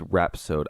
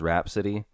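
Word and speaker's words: rhapsode: ion is a is it called is it pronounced rap sod it is rap sod I looked it up awesome and my brain I was reading it as Rap City and I kept saying Beman Rap City and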